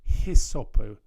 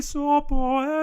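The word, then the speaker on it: hyssopo: And one of the things they do, that they don't pronounce their H's in Latin. So it's not hisopo here. It's just asperges mei sopo et mundabo.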